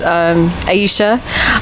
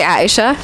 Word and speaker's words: Aesha: Okay, my name is Aesha, or you could say Aesha. That's another way to pronounce it.